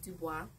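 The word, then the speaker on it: Du Bois: so first up was W.E.B DuBois which is actually that's how you pronounce it in France um and he was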